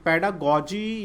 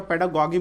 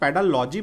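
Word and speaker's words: pedagogy: चाहता हूँ यहाँ पे, पेडागॉजी या पेडागॉगी बोल सकते हैं, बहुत लोग पेडालॉजी बोलते हैं। So don't say पेडालॉजी, either you कैन से पेडागॉगी which is the correct pronunciation. पेडागॉगी एक करेक्ट जो है प्रोनाउंसिएशन है, तो आप ये बोलें, या फिर पेडागॉजी भी बोल सकते हैं, लेकिन पेडालॉजी पेडालॉजी तो लिखा ही नहीं रहता है, ठीक है, तो पेडालॉजी नहीं बोले, पेडागॉगी या पेडागॉजी बोले।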